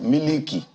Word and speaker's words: milk: Yeah, but you know, they would normally pronounce it as miliki.